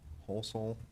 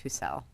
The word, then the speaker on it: Holsel: the commission received written comments from Blaine and Joanne Holsel, probably saying that last name wrong, sorry if I am. Are you aware of those comments? I am, and it's pronounced Husel.